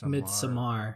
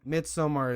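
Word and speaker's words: Midsommar: it's so Martin and you call it mid mid Samar okay I'm already getting confused yes midsummer is the correct pronunciation of this also about the movie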